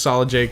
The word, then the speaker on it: solidEjake: My Instagram is that's solid E Jake. The E is silent, so just solid Jake with an E after solid.